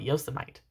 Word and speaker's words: Yosemite: I'm hearing which I only learned how to pronounce like five years ago he's called Yosemite anyway um I'm hearing uh yevin yevin yevin